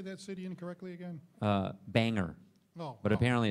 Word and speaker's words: Bangor: I got made fun of for saying Bangor, Maine. Apparently it's Bangor.